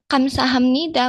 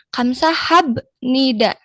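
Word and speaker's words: 감사합니다: Nah, tapi kok dibacanya Kamsa Hamnida bukan Kamsa habnida? Nah, di sini kita akan menjelaskan ya kenapa nih ketika huruf B bertemu N dia itu melebur. Jadi bukan Kamsa habnida tetapi B-nya berubah menjadi M. Kamsa hamnida dia seperti tajwid. mungkin ya, Teman-teman. Jadi seperti itu. Dia bukan dibaca hamsah habnida, tetapi karena B di sini B bertemu N. Setelah B-nya itu langsung N, dia B-nya melebur agar pengucapannya lebih mudah.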